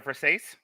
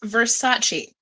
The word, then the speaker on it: Versace: Is it a verse? It's pronounced Versace.